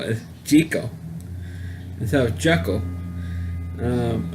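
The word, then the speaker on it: Jekyll: Jeckyll and Hyde story, everybody pronounced the name Jeckyll, not in the 1932 version. They call it Jeckyll. And instead of Jeckyll, it was pronounced Jeckyll.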